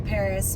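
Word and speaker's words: Parras: And the other thing that's nice about being north of Torrance Boulevard is there's also the middle school, Paris Middle School, and that's spelled P-A-R-R-A-S.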